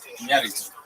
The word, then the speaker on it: Iñárritu: And I think Iñárritu, you have to say his name right. There was an accent on the thing. Can I try? Iñárritu.